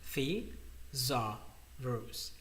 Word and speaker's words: thesaurus: I really really recommend it to you it's pronounced the Zar R the Zar Rose and it's a tool that once you put